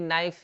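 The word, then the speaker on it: knife: यहाँ पे के जैसे कि नाइफ यानी चाकू हो जाता है, यहाँ पे के साइलेंट रहता है, नाइफ।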